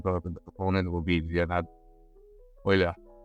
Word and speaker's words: Euler: the thean deson the component will be the oiler it's Oiler oan description and the proponent is